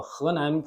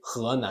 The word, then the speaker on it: Henan: It's a capital city of the Henan province in central China.